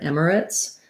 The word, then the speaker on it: emirates: i do say emirates i do say three syllables i don't go all the way to emirates emirates but this is